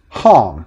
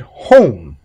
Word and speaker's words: home: A child would probably pronounce it hom. They would use the short sound for the vowel. However, if you add an E onto it, we would pronounce it home.